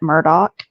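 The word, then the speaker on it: Murdaugh: knows how it's really pronounced but the family pronounces it Murdoch even though it's spelled m d um I'm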